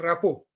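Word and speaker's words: rapport: इसका उच्चारण होता है रैपो, राइट? टी का उच्चारण इसमें नहीं होता है।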